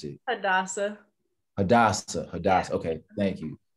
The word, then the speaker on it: Hadassah: How do you pronounce it? Hadassah.